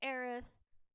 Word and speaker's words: Aerith: So in 7, it was Aerith, or Eris, however you want to pronounce it.